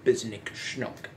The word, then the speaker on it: Bzznick Shncook: the chinook i realized that when i was pronouncing so i put an n between h and c so bisnick schnook now because next snook was actually made by